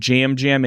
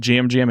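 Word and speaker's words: Yam Yam: D season 45, and we'll put Jam Jam in good above Richard. I always have to remember that Jam Jam is spelled with Y's. It's spelled Yam I Yam.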